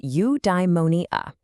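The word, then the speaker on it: eudaimonia: It's pronounced udeimmonia.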